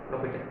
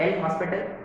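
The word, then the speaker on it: L'Hôpital: एल एच है ना, लॉपिटल। Guys it is naught एल हॉस्पिटल, इट इज H silent है, एस B silent है ना, लॉपिटल, right.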